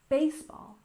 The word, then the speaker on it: baseball: about sports and Leisure baseball has a stress on the first syllable baseball baseball I'm sure you're familiar